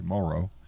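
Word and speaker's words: Moreau: Aaron, and those in Morrow, and I learned how to pronounce it correctly today, Morrow, New York.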